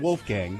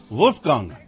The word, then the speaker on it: Wolfgang: If my name were Wolfgang, I would say my name, and I would say you have to pronounce it correctly. Not Wolfgang, it's Wolfgang.